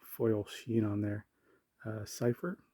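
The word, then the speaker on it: Seifer: Uh, cipher. Do you say cipher? Some people say cifer. I think um I don't know how else you might pronounce that. Cfer I say cipher duelist flame.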